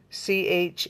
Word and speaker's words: Charoite: It's spelled C-H-A-R-I-T-E. It's just a beautiful stone. I mean, it really is. Charoite.